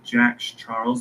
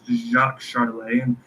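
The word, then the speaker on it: Jacques Charles: And if I didn't look up the pronunciation for this man's name, I probably would have said Jack Charles, but it's Jacques Charlay.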